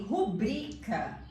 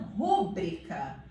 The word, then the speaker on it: rubrica: Como por exemplo, Ó, se eu não fosse amiguíssima da minha professora de português, se alguém falasse pra mim que rubrica é o correto e não rúbrica, eu ia falar assim, dá 0 pra ele.